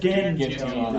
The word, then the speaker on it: Gentiana: Gentiana. No, hard G. It's a hard G. I said, Gentiana.